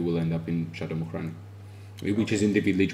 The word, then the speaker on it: Mukhrani: Mukrani. Actually, that's a perfect uh expression and the pronunciation. A lot of people are struggling with the letter, but And this is some 30 kilometers north of the capital.